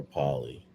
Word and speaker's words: Polley: And that's Sarah Polley from the that's the same Sarah Palin or Pollen or how we pronounce her name from Polley, Sarah Polley is her name.